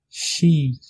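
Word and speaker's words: sí: Le i long, ça veut dire le i accentué, se prononce comme le i anglais, comme dans le mot be.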